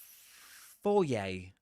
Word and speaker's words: foyer: Foyer. Foyer, that's the pronunciation of that word.